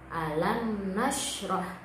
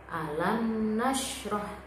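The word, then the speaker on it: ألم نشرح: Jadi mungkin dikira itu bacanya dengung ya, tapi cara membaca mim bersukun bertemu dengan nun ini tidak boleh dibaca dengung, harus dibaca jelas atau terang. Alam nashrah, contohnya alam nashrah, alamna, lamna.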